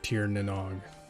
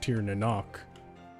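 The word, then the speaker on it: Tír na nÓg: Like apparently Tir Nanog is, well, it's phonetically it's like Tir Nanog, but apparently it's supposed to be pronounced Tir Nanok, or so I've been told.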